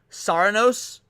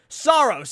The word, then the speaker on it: Saros: Maybe I'm pronouncing it incorrectly. Saros. Yes, Saros.